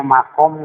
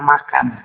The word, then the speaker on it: makam: sini ya di sini ada salah pengucapan Dina makam kena makan Ari makam teh diurang